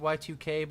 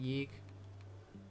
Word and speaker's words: YIIK: It's technically pronounced Y2K, but I pronounce it YIIK.